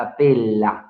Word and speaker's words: apella: Todo ciudadano espartano a partir de los 30 años podía participar de la asamblea llamada apela, la apela, con doble L, apela, ¿ya? Así es, se escribe apella.